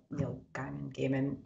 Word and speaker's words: Gaiman: yeah, it's Gaiman.